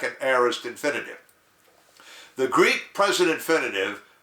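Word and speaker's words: aorist: a-o-r-i-s-t now what is this word that almost rhymes with Eris the heiress tense in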